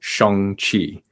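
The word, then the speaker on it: Shang-Chi: that i saw like their mmc say shong chi and i'm like oh i've been saying it wrong the whole time oh have you been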